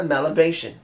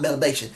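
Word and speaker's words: Mellabration: I want another Melabration. If I'm pronouncing Melabration, not Melabation.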